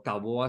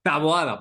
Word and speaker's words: Taboada: el día de hoy nos acompaña Carlos Alejandro taboa Sánchez está bien pronunciado tu apellido Carlos sí taboa sí no es taboada taboada Perdón Carlos Alejandro taboada Sánchez De dónde es